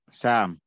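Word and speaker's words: saam: Sam. Sir. Can you type it in the chat or just spell it for me so I can translate that one, at least for the first ever translation?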